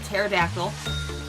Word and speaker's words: pterodactyl: I'm gonna name it Pterodactyl. Okay. P is silent.